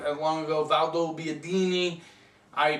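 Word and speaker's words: Valdobbiadene: Valdo Biadini. Valdo Biadini.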